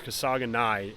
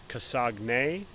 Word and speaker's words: Kasaganai: Kasaganai, and you would think that it'd be pronounced Kasagne, but it's obviously Kasaganai.